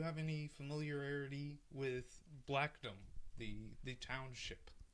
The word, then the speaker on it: Blackdom: just want to clarify I've always pronounced it correctly I never pronounced it in an odd way it's always been pronounced blackdom by me but I can't wait